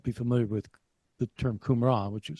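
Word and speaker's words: Qumran: Scrolls some won't be familiar with the term kumran which was spelled with a q kumran but it's the location where the uh the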